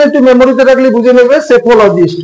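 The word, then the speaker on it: psephologist: মেমোরিতে রাখলে বুঝে নেবে সেফোলজিস্ট উচ্চারণটা সেফো পি এর উচ্চারণ হবে না ইলেভেন স্কাল্পর স্কাল্পর তাকে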